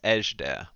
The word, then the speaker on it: Ejderha: it yet sir actually Porter knows how to pronounce it is a sh dair oh yeah we're going to edge there and more back you